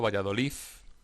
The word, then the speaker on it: Valladolid: Valladolid, esta asibilación de la D implosiva, que en lugar de Valladolid se pronuncia Valladolid.